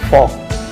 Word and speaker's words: folk: FOLK फॉक L silent है.